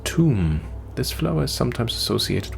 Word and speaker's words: Thumb: Pacusis pusilium, pronounced tomb.